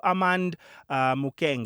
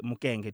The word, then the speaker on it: Armand Mukenge: So there is Armand Mukenge. Am I saying it correctly? Yeah, Arm- Armand Mukenge. Armand Mukenge.